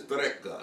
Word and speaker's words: Reyka: It's spelled R-E-Y-K-A, like you would think Reyka, but I think it's Reyka.